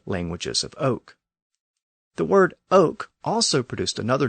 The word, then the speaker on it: oc: eventually became we and in the South the word for yes was pronounced Oak so those dialects became known as the ladoke literally the languages of Oak the word Oak also produced another name